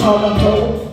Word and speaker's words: Toronto: Originally a Mohawk word pronounced a Toronto.